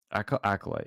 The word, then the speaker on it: acolyte: era is called Star Wars: The a cop acolyte. Yeah, it's acolyte. That's how it's spelled.